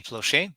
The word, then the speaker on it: Plauché: guest today is Jody plushie which I'm pronouncing as I would in French because I'm francophone but